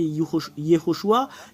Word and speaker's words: Yehoshua: vous de voir mais la vraie prononciation du nom de Josué c'est Yehoshua quelle est la raison